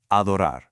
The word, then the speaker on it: adorar: We move from simply liking something to truly, deeply adoring it with the verb adorar. Adorar. Looking at the mechanics here, we start with this open ah sound, exactly like in the word father.